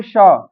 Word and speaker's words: pshaw: अब साइकोलॉजी में पी तो दिया है लेकिन पी साइलेंट है और शुरुआत हो जाती है यस से, तो साइकोलॉजी होती मनोविज्ञान। इसी तरह शॉ, PSHAW, शॉ होता है धिक्कारना।